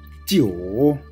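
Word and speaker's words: 九: Then jiu, there is third tone. So we need to pronounce like this. Jiu, jiu, jiu.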